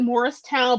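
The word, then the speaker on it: Moorestown: So it's we pronounce it Morristown, but it's Moorstown, New Jersey.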